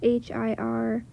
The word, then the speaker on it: Hirschfelder: It's by, I'm not going to pronounce this right, David Hirschfelder. It's Hirschfelder.